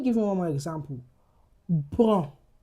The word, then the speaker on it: bon: Bon. Bon. That's nasalized. What if I add letter e to that word? It becomes bonne.